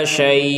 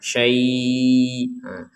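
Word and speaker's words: شيء: Dan huruf terakhirnya adalah hamzah. Jadi kita tetap membacanya, yang terakhir itu adalah huruf hamzah. Ala syai'. Jadi terakhirnya itu i, seperti itu. Jadi tidak sekedar syai'. Nggak ada hamzahnya nanti kalau nggak ada tekanan di terakhirnya.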